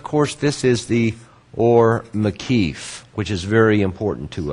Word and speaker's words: makif: And of course, this is the or makif, which is very important to us. Makif. And if we spell it more accurately, it would be like this.